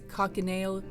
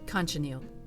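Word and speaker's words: cochineal: organic sources such as cockaneal insects who have brilliant colored shells for carmine red sorry that's pronounced conchaniel this red brown mud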